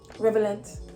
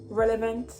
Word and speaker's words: relevant: it's so wrong it's pronunciation okay oh revelin revelant so the correct pronunciation oh the correct plants pronunciation would be relevant relevant relevant not relevant relevant the l r